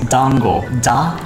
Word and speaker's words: dango: rise so if you're wondering how to properly pronounce it it's dango tango but honestly you can just pronounce it